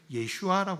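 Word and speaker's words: ישוע: 이렇게 돼 있고 그를 히브리 식으로 발음했을 때는 예슈아 하는 이름으로 이렇게 표현이 되거든요 근데 그 이름은 우리에게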